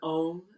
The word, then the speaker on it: Om: And Om is kind of spelled like A-U-M, and we're enunciating the sounds of those letters with our voice.